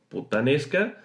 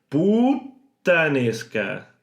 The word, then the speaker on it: puttanesca: Puttanesca. Exagerad sin problema. Luego, poco a poco, iréis normalizando este tipo de pronunciación y ya no será puttanesca, sino puttanesca. Así más rápido, puttanesca.